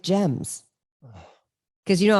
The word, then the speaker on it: Gem: or Gems, no, G-E-M, like gemstone. Gem. Like Jim Stone.